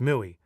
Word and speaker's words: MOUI: That's the mui. pronounced mooey like a cow that demands extra attention. You know, kind of mooey.